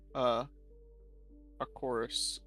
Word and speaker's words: Arceus: A chorus.